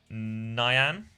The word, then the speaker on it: Nyan: It's pronounced like cyan. Nyan?